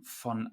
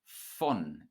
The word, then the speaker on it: von: This word is followed by the word von, meaning from. Notice that a V at the beginning of a word in German is pronounced like an F.